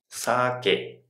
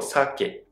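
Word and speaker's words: 鮭: Is it saKE (alcohol) or SAke (fish). that's a good way to remember.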